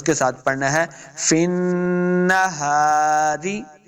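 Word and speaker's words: في النهار: کے ساتھ پڑھنا ہے، فن نہاری، رے نہیں پڑھیں گے، فن نہارے، بعض لوگ پڑھتے ہیں فن نہارے، تو یہ غلطی ہے، روزر ری پڑھیں گے، فن نہاری، سبحن، سب، سین کو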